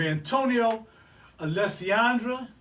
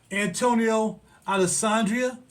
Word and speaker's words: Antonio Alessandria: And today, from the house of Antonio Alessandra, and I know I probably pronounced that jacked up, Antonio Alessandria, there we go, Dries Aurora.